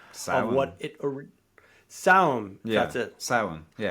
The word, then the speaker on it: Samhain: What it's it's not Samhain cuz they mispronounced that in Halloween, but I forget the actual pronunciation of what it or Samhain, that's it. yeah. Yeah. So, yeah, that's it. Samhain, so um she should she could meet them,